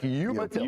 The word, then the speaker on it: Umatilla: That's West Nassau and Umatilla. Coach, do you know how to pronounce, is it Umatilla? Umatilla. Umatilla? Like Umatilla. Umatilla. All right, good. Just the way it looks.